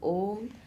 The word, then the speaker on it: Om: very particular about that, the pronunciation of Om, the projection of that sound for a long time. So that's what struck me, that Om in Om, that shouldn't be shortened.